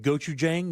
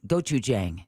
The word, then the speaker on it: Gochujang: There's one with gochujang.